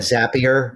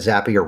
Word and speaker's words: Zapier: I I said zapier. I said zapier wrong for 10 years and finally I like met their team at a conference in the marketing space. They're like, it rhymes with happier.